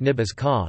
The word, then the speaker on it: Ní Btháska: Nebraska's name is derived from transliteration of the archaic Oto words Nebraski, pronounced Ibazke, contemporary Oto Nebraj, or the Omaha Nebathoska, pronounced Nibazka, meaning flat water, after the Platte River that flows through the state.